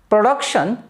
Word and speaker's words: production: the world just as in production the second syllable is stressed in the world like